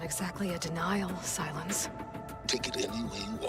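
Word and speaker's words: Sylens: done this um and apparently you're supposed to pronounce his name silence so that's pretty cool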